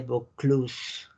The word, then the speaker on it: Vaucluse: Si tienen una A y una U juntas. Uy. Si hay una A y una U juntas, es igual a una O en pronunciación. ¿Sale? Por eso es Vin de Pays de Vaucluse. La E no se pronuncia, ¿están de acuerdo? La que está al final.